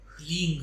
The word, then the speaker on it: ह्लीं: मैया का बीज मंत्र ह्लींग है, जिसको कि यदि आप इंग्लिश में लिखेंगे तो इट विल बी HLEENG, जिसमें जी साइलेंट है।